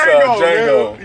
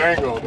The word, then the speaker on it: Django: Real niggas, the D is silent, but not This is one forget what he said.